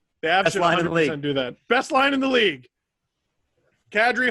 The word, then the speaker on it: Kadri: line in the league kadri hall and who cares that's how you pronounce it by the way i asked